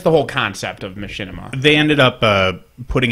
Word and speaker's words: Machinima: I'm in a butcher the name it's U Machinima or Mak Mak it's Machinima okay so they uh I